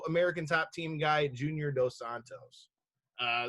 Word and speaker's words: dos Santos: is gonna win dosan dos santos not dosanos uh dos santos is